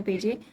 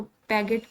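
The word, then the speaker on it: Piaget: वैसे इसको मैंने देखा था एक और शॉर्ट लेक्चर सीरीज के अंदर, उसको पैगेट पढ़ रहे थे, आई डोंट नो व्हाई, लेकिन मैंने इसकी सही प्रोनाउंसिएशन देखी तो इसको पेजे पढ़ना है हमने।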